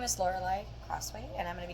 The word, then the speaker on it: Lorelei: my name, is that people do misconcept the name to be pronounced Lorelei or Lorelei, when in fact it is Lorelei, which is because it is the German origination of the spelling Lorelei.